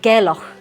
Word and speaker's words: Gairloch: name of the place is it gck gerock gerock gerock so we're in gerock we're in gerock